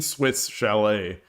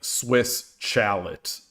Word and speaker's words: Swiss Chalet: I don't I don't know Harvey's, but I've seen Swiss Chalet. In Canada, they don't have any weird pronunciations. Like, you don't call it like Swiss chalot, right? It's it's still Swiss chalet.